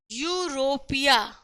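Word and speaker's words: Europe: अच्छा, यूरोपिया, हाँ यूरोपिया, तो यू ऐसे लिखते हैं, रोप ऐसे लिखते हैं, यूरोप ऐसे ही लिखते हैं। थोड़ा सा यह और बनाने की कोशिश करते हैं ना, तो इसकी मीनिंग अगर हमें लिखनी हो तो हम क्या लिखेंगे? वाई यू आर ओ पी, ऐसे। जब वाई क्या है? वाई कॉन्सोनेंट है, लेकिन यहां क्या देख रहे हैं? यहां तो ई से शुरू है, गड़बड़ है, मामला गड़बड़ है।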